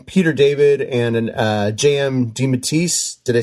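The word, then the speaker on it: DeMatteis: I seem to think recall Peter David and uh JM Deatise, did I say it right?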